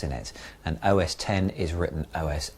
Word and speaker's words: OS X: Please stop saying OS X. It's been pronounced OS 10 since 2002, and I thought you might have caught on by now.